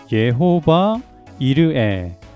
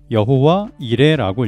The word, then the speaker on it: 여호와 이레: 이것을 읽어보자면 예호바 이르에 라고 읽을 수 있는데 우리 이번 문제에 나온 것처럼 여호와 이레라고 읽으면 돼요.